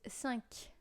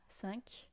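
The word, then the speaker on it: cinq: then we have five which is sank sank uh it's as if a French person were to say the word s you know this one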